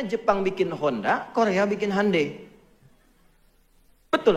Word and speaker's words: Hyundai: Makanya Jepang bikin Honda, Korea bikin Hyundai. Betul, Hyundai itu pengucapannya, Hyundai tulisannya.